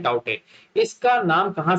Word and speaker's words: Tauktae: इसको लिखते हैं TAUKTAE, लेकिन इसको प्रोनाउंस करते हैं टाउटे।